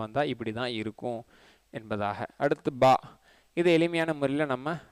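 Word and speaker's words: باء: உருதுலேயுமே அலிஃப் பா பா டா டா அந்த மாதிரி பல உச்சரிப்புகள் இருக்குது. அந்த அடிப்படையில் பாவும் இருக்குது, பாவும் இருக்குது, பேயும் இருக்குது, பேயும் இருக்குது.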